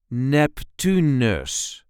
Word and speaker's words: Neptunus: Neptunus. There is a light emphasis on the second syllable, Neptunus.